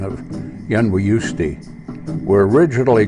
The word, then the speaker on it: Yunwi: The Little People, and I'll try the Cherokee pronunciation of Yunwi, were originally called Moon People because they only came out at night.